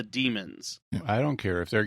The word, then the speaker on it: Daemons: I always wondered whether to pronounce it Daemon or Demon, but I guess it's the way they said it in the episode, it was the Demons.